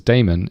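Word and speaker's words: daemon: to create a demon a demon or sometimes pronounced as Damon is a background service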